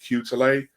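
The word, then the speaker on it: Quetelet: But the whole idea of the average man comes from, I think it's pronounced Cutele.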